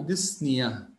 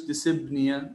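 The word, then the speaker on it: dyspnea: ديسنيا هنا البي بتكون سايلت لا تلفظ، فعندي ديس بريفكس بادئه معناها difficulty or pain، الم او صعوبه، والسافكس عندي بريثنج اللي هو بنيه، بنيه معناها بريثنج، المصطلح بصير اسمه ديسنيا، نقولش ديسبنيا، لا هي البي هنا بتكون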